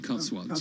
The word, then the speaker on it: Cotswolds: I was, well, you were on the Cotswolds, is that how you pronounce it? The Cotswolds, yeah.